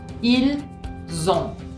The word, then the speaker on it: ils ont: Ils ont. Del verbo tener. Ils ont. Ven que se escribe con una T al final. La T es muda.